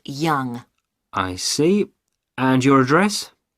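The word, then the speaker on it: Yonge: have your name yes it's young jh young that's that's spelled y o n g e that's young i see and your address 15.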